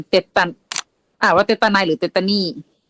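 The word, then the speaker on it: tetani: อ่าน ว่า เตตาน หรือ เตตานี่ ผม อ่าน เตตตานี่ เตตานี่ อ่าน แบบ ลาตเติน คอซีเดียม เตตานี่ โอเค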